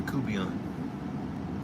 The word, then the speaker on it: court bouillon: We call it a coubillon. Court bouillon, it's spelled, but it's pronounced coubillon.